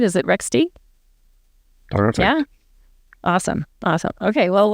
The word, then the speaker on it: Rextie: Country manager for Canada of rext am I pronouncing the company name right is it rext yeah awesome awesome okay well welcome um Matias